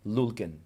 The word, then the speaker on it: Lyulkin: I like that pronunciation. Lyulkin, Lyulkin.